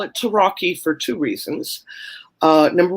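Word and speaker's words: Rocchi: so like medici right if there's cch then you pronounce it like pinocchio right you think um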